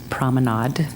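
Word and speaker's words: promenade: pronounce their names good I did consult with my French friend and it is prominade prominade okay unless you're trying to get it to rhyme with lemonade right like the emphasis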